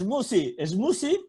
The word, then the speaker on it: smoothie: No, la TH, ¿no? No la hago. Yo digo smoothie. No. Pero tampoco. Smoothie. A ver. Smoothie. ¿Smoothie? Sí. ¿Casi D? ¿Suena D? Smoothie. ¿D de Dinamarca? De D y la Z española, como vosotros sabéis. Smoothie. Es como D y C.